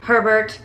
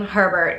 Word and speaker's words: Herbert: saying this right because hubert hubert would be hu so it has to be harbor which is terrible because it rhymes with sherbert and i don't know